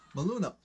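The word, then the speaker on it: Maluma: Maluna.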